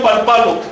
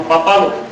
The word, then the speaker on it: papalo: Entonces no digo palpalo, sino papalo.